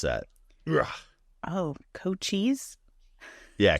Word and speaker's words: Cochise: So it's how do you pronounce that? Oh, Cochise? Yeah, Cochise.